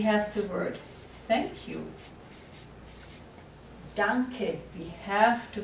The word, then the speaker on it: danke: Now, there are no silent E's in German at the end of a word. No silent E's. So, if you have the word thank you, danke, we have to pronounce the E.